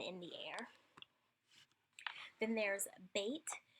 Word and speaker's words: Bet: Bet is the letter that has the B-like sound, like in boy. When it has this dot in it, and we'll talk about what that dot is a little later, it has a strong B sound. When it does not have this dot in it, it has like a V type of sound.